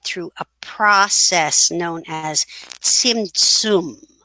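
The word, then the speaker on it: Tzimtzum: cosmos was created through a process known as simsum it's pronounced starting with the letter saudi basically in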